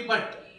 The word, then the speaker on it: but: पुट और B yeti बट अब P yeti यहां उ का उच्चारण छोटे हो के उ से और यू का उच्चारण अ तो अ कब बोलेंगे